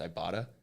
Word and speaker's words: Ibotta: And I got all connected with, I think it's pronounced Ibotta, IBOTTA, and I got it